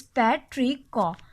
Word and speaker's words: petrichor: The pronunciation of this word is पेट्रिकॉ। पेट्रिकॉ। Okay, pronunciation हमारे पास clear हो चुकी है, दैट इज पेट्रिको।